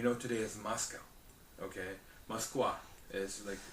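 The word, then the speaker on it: Москва: Okay, Moskva is said in Russian.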